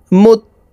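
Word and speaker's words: المتقين: মুত্তা, তাসদিদওয়ালা হরফ 2 বার উচ্চারণ করিয়া পড়িতে হয়। দেখুন, তার উপরে তাসদিদ আছে, এই কারণে প্রথমে পূর্বের হরকতের সঙ্গে একবার উচ্চারণ হবে, তারপরে নিজ হরকতের উচ্চারণ হবে।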